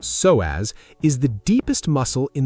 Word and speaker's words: psoas: The psoas, pronounced so-as, is the deepest muscle in the human body.